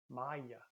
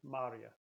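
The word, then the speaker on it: marye: have the R sound Maya but in Pennsylvania you hear that R sound Marya tomorrow yesterday is yesh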